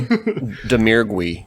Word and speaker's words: Domergue: an outstanding performance along with, how do you pronounce it again? Faith Domergue? The House... We just made it up, really? Domergue.